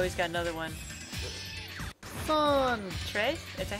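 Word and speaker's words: tres: Trey? Is that how you pronounce it?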